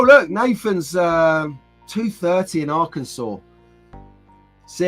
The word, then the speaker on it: Arkansas: Nathan's uh 230 in Arkansa see how I pronounce that right Arkansas not Aransas so uh Nathan has